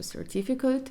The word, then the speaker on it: certificate: comfortable замість comfortable або закінчення aid воно може вимовлятися як aid Але зачасту воно вмовляється як просто certificate як it і це теж помилка